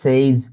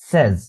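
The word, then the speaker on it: says: উচ্চারণ ধরে আপনারা বলতে পারি যে আই, অনেকে বলেন যে আই সে, হি সেইজ, he said. ওকে, তো এখানে উচ্চারণটা হবে কি, আই সে, হি সেজ, he said.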